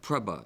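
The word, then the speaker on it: prabhu: Sanskrit I'm I'm sorry Jim it's PR yeah preba is correct preba are there any other pronunciations there are no alternative pronunciations prba uh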